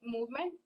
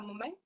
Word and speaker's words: moment: It was pronounced as movement, but it is a moment.